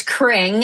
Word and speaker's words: Kring: It's Kring. And it's pronounced like Cringle. Like Chris Kringle. Think Christmas. Put a K on there and it'll be pronounced correctly. But yes, it's Kring.